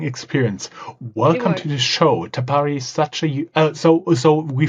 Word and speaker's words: Tapari: And before we start this recording, we have been a little bit thinking about how to pronounce it, but we settled on Tapari.